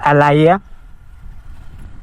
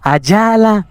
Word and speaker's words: Alaya: El nombre de mi hija es Alaya. Y ella, cuando se lo dimos a saber, ella no lo pronunciaba bien, le costaba un poquito. ¿Cómo? Ayala, Alaya, Ala.